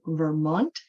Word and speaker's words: Vermont: Okay, so this one I mean, maybe you will not even need this, but we put the stress on the second part of Vermont, the state. It's called Vermont. And when we say Wednesday, we kind of cross out the D.